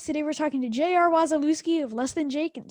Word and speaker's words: Wasilewski: can't get it and i mean phonetically if you just sound it out it's spelled like it sounded but you know i